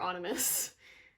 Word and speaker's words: Onimus: Onimus. His name is pronounced Onimus.